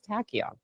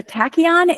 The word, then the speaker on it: tachyon: So tachion is spelled t a c h y o n. And that Greek Latin um origin word that tacky is like part of tachometer on your car.